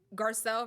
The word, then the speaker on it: Garcelle: that was working because behind like you know garcelle right like that's how you pronounce his name marcel had like was keeping